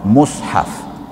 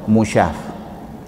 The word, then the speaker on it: mushaf: Sesungguhnya Quran itu masyhur dengan nama mushaf. Dia punya pronunciation dia kita kena pronounce mushaf. Bila tulis rumi m u s h a fatutnya baca mushaf. Ada orang baca musyaf.